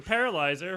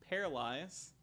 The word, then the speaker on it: Paralyze: Anyway, thank you to Paralyzer for our theme song. That's it. Thank you, Paralyze, Oh shit, it's just Paralyze, guys. I've been saying it wrong.